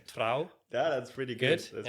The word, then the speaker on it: Trouw: Yeah, and so while you're at uni, you get an internship at, I'm going to maybe butcher the Dutch pronunciation, Trouw.